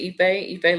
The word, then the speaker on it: Ife: Yeah, so I pronounce it Ife like eBay, but with an F. Ife Mhm.